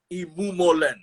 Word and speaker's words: Imumolen: him to you ladies and gentlemen professor christopher imumulen did i get the pronunciation of your name sir yes yes you